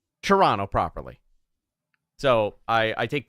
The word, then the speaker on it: Toronto: I said it correctly it's not Toronto it's Toronto Toronto or if you really want to get uh into it shrana Trana I worked at the